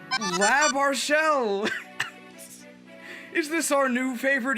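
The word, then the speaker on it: L'Arachel: People were wondering how to pronounce her name. It's Lab Marshelle.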